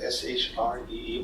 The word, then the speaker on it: Sri: is free like it's his prince is spelled s RI but it smells like Sh re but maybe that doesn't